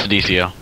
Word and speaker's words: Senecio: I say Senecio. Is that how you say it? Yeah, it's Senecio.